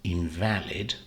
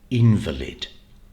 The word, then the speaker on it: invalid: is this word now this is either an adjective in which cases invalid or it's a noun invalid and the difference again is on the syllable that you stress this is a three syllable word so let's look at both as an adjective it's invalid and the stress is on the middle syllable v al invalid and